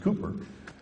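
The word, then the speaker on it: Cowper: uh it's spelled cper but it's actually pronounced Cooper said he works in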